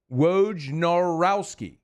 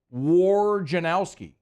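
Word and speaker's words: Wojnarowski: WJ w n r WJ norowski yeah not war Janowski like am I screw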